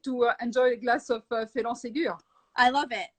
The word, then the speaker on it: Phélan Ségur: Because when you say Phélan Ségur, and actually you pronounce it perfectly well, it sounds very French, and especially you have on the bottle you have an accent. I know that we don't see it, but you have an accent on the E right there, so it looks very, very French.